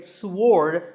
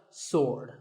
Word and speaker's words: sword: about this word sword many people say sward but that is totally wrong it's just sword and here's one last